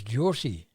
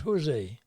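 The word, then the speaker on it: José: In Portugal, it's Josie, not Jose.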